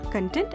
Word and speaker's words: content: sometimes change the meaning for example content and content are two different words with different meanings wherein content is the matter and content is feeling satisfied myth number three general